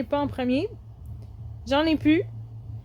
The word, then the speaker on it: plus: J'en ai plus. Et le plus ici se prononce beaucoup pu j'en ai pu. OK. Donc on enlève le L.